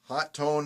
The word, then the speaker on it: Hotone: I've heard that it's pronounced Hotone is supposed to be the proper pronunciation, but going by that, Joey Fatone should be Joey Fattone.